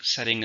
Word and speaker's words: setting: Setting is a time and place of something, particularly a movie or book. It's a noun. How many syllables are in setting? 2. Stresses on the first.